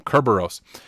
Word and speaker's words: Kerberos: ntlm and kerber kerberos i always say it wrong the first time kerberos since these will be